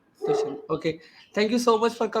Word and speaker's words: Dushyant: Thank you so much, Dushan. That's how it's pronounced, right? The ship, yeah, Dushyant.